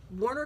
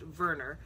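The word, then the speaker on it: Werner: um Warner Clamper and um that name might not sound very familiar. Actually, it's pronounced Verer.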